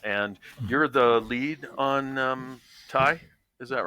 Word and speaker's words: ty: And you called it TY? Is that we the correct go with pronunciation? TY. Yeah. Okay. Yeah. I mean, UV. We're not out there trying to police it, but yeah. Yeah. Okay. Well, it sounds like short for type, but TY.